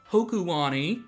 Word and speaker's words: Hokulani: This time, we are going to continue exploring Mali City on our way to Mount Hokulani, which is the official pronunciation.